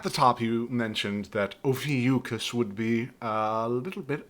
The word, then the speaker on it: Ophiuchus: When you say his name, just think of the Soulja Boy song.